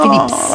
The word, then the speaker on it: Phillips: Phillips. Ah, Phillips. On prononce bien le S, Phillips.